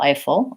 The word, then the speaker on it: Eiffel: and a dark L Eiffel Eiffel long short second syllable is short an unstressed four syllable is stressed Eiffel Tower that has